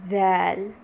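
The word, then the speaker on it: ذال: В этом уроке мы тоже пройдем 4 буквы и некоторые нюансы с ударениями. Начнем с первой буквы. Первая буква сегодня это ЗАЛЬ.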